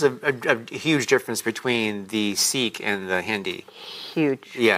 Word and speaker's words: Sikh: But if you like here in Fresno, Clovis, when I see Indians walking out, and most of them are Sikh, but it's pronounced Sikh, they understand Hindi, but Punjabi is very similar.